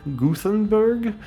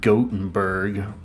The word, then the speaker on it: Gothenburg: Swedish show in Gothenburg Gutenberg or uh actually I believe it's pronounced Gothenburg not like Steve Gutenberg but for the Cure